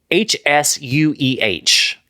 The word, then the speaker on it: Hsueh: Uh, but I think it's Malika Sachdeva and Michael, I think it's Hsueh, H S U E H. Hsueh? I I would assume S is silent.